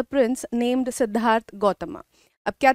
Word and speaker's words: सिद्धार्थ गौतम: में बोल देते हैं बट एक्चुअल में इट्स लाइक कि सिद्धार्थ गौतम ऑलराइट ऐसे ही प्रोनाउंस किया जाता है तो इनकी स्टोरी कहां